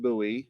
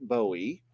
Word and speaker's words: Bowie: small buoy knife and it is pronounced buoy not Bowie and what you see is the curve up at the top and his knife is a small buoy whereas a full buoy